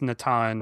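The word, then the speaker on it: Nathan: I believe so, but it was still pronounced Natan, right? The Portuguese, yes.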